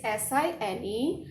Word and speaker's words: sin: Actually it is SINE, but in a short way we are writing SIN and we pronounce it as sine ratio.